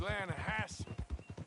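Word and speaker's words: Lannahechee: the other day I rode down to the Lana Hetchy River I caught some beautiful steelhead trout you mean Atlanta Hasse no no Lana hacci it runs right near here yeah it's pronounced Lana Hass why is everything in English said differently than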